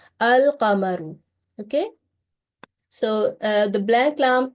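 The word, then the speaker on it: القمر: Okay, so we will pronounce this lam as a clear lam, and the word is al-qamaru.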